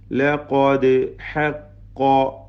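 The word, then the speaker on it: لَقَدْ حَقَّ: ലഖാദ് ഹഖ്ഖ, ഖാഫുകൾക്കൊക്കെ തഫ്ഹീം കൊടുക്കണം. ദാലിന് ഖൽഖല, സുക്കൂൻ ഹറക്കത്ത് പോലെ ചലിപ്പിക്കുക. ഖൽഖല സുഗ്ര.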